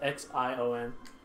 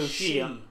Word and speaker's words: Xion: That's X-I-O-N.